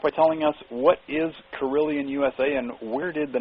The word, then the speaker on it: Carillion: And Lee is the Managing Director of Carillion USA, which, as a matter of interest, Carillion rhymes with million, and is also, it's a fighter in the Star Wars action series.